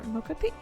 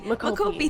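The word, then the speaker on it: mocopi: And Big Ham is the mocap the expert, or Mokopi. Sorry, how do you say the full body? Makopi.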